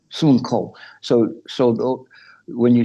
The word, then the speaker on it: Sun Wukong: Sun Wukong. Sun Wukong.